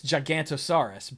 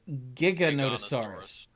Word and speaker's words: Giganotosaurus: The problem is, I don't know how you say it, because your brain says it's Gigantosaurus, but it's not, because there's an extra O in there. And I think it's like Giganotosaurus. Giganotosaurus?